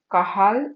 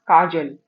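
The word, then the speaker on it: Cajal: Interests of kahal or you can pronounce it as kajel. Kajal or kahal.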